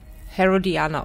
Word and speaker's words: Herodiana: Herodiana, okay. So wird's ausgesprochen.